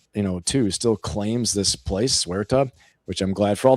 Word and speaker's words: Ceuta: If Spain, as you're saying, Nate, too, still claims this place, Ceuta, which I'm glad for all the Marines out there, it's not Cuerta, it's Ceuta.